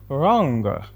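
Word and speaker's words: wrong: ಕನ್ನಡದಲ್ಲಿ ಬಾಚಣಿಕೆ ಅಂತ ಹೇಳಿ ರಾಂಗ್ ರಾಂಗ್ ಅಂದ್ರೆ ಇದರಲ್ಲಿ ಡಬ್ಲ್ಯೂ ಲೆಟರ್ ಸೈಲೆಂಟ್ ಆಗುತ್ತೆ ಇದನ್ನ ಆರ್ ಇಂದ ಪ್ರೊನೌನ್ಸ್ ಮಾಡಬೇಕು ಆರ್ ಓಎನ್ಜಿ ರಾಂಗ್ ಅಂತ ಹೇಳಿ ಇದರ ಅರ್ಥ ತಪ್ಪು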